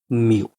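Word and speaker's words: mu: जिसको बोलते हैं हम म्यू। ये ग्रीक लेटर होता है जिसको हम बोलते हैं म्यू, एम यू।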